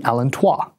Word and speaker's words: allantois: Within the umbilical cord is another small extension of the endoderm called the allantois, or if you're a stickler for the proper French pronunciation, the allantois.